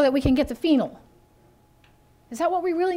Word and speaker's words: phenol: find a very specific phenol it's spelled ph so the ph is making the f sound phenol p-h-e-n-o-l the phenols are found